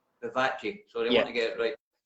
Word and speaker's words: Vivace: yourself when you went to, how do you pronounce it again, Versici? Vivace.